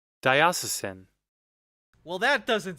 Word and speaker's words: Diocesan: grew up very Catholic the pronunciation you played is accurate okay thiocesan all right Diocesan I'll try and remember